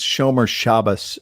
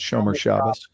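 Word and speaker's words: Shomer Shabbos: not even Jewish man it's Sher shabas is the way to pronounce that Sher shabas yeah yeah it was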